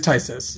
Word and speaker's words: Phthisis: It's got suspend for 1 and a black, and it's spelled PHTH. Is it Tysis? It is Tysis.